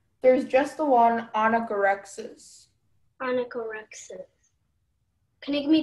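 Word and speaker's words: onychorrhexis: Okay, onychorexis? Am I pronouncing right? Yes. Is there any alternative pronunciations? There's just the one anagorexis.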